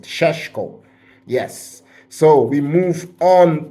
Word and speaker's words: Šeško: the transfer headlines, Benjamin Sesko, or Šeško. I heard that's how you pronounce it, Šeško.